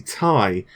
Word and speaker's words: Ti: In fact, I believe an Nvidia employee actually went on record and said it is actually pronounced Ti because it's like titanium.